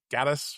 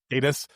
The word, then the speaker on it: Gatiss: When you're talking about, all the Sherlock Holmes stuff, there's a ton, especially, since the Gaddis, is that how you say his name? Gatiss. Or Gatiss.